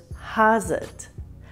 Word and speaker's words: how's it: and how are you notice that when Rebel pronounces House it she says has it let's practice together has